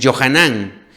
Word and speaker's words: Johanan: no no son así por ejemplo este Juan es johanan o Mateo mateju son